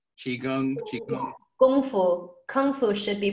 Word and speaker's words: kung fu: Chinese romanization it's the same as Kung like Kung Fu chiung CH Gung fu kung fu should be pronounced in in Mandarin Gung Fu okay I'm